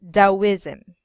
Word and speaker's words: Taoism: So in we I already study about this one, and this one is actually um read it as Taoism. Taoism. Yes, You Taoism is in not English.